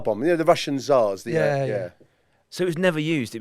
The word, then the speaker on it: tsar: say the first word why if they put a t at the start then right we go we go it's called the tsar bomb yeah and it says